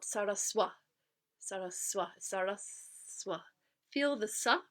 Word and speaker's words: Sarasvatī: And what is saraswati?